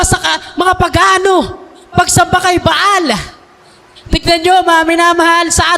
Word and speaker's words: Baal: Pag binanggit mo sa English depende kung anong bigkas, anong pronunciation depende kung English o British pag binanggit mo yung bal ay magtutunog ball.